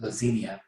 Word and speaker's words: Lazinia: vampire got into him uh how do you spell that by the way l-a-z-i-n-i-a-s or well no s but lassenia is her name so lazinia's ring i think